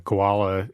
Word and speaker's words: Kowala: Now, that's spelled differently from the animal. It's spelled ko wal a tech.